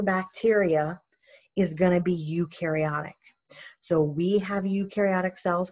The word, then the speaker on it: eukaryotic: take a look at eukaryotic cells you rhymes with blue you rhymes with do these are going to